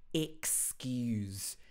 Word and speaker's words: excuse: starts with the letter e but it's actually pronounced excuse excuse me we stress the skews part excuse